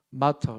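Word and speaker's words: martyr: 증인을 가리키는 영어 단어가 제가 좀 발음이 안 좋지만 제가 찾아봤는데 M-A-R-T-Y-R 마터 이렇게 하더라고요. 마터 이렇게 하더라고요. T를 되게 작게 발음합니다.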